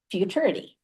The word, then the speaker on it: Futuriti: you what is now Futuriti. So if you need to know how to say it, just rhyme it with maturity and blame us for the wonky name.